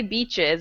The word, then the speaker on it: beaches: when you say beaches like this, you need to think about the I being in Spanish.